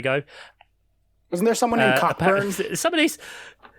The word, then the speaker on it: Cockburn: Wasn't there someone named Cockburn? Somebody's. There is there, but it's pronounced Coburn.